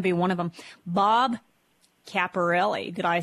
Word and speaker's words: Caporale: is going to be one of them Bob caparelli did I say it right sir you got